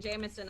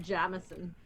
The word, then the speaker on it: Jameson: from the very start as we started discussing jamison i now have ex-in-laws used to pronounce it jameson i just uh constantly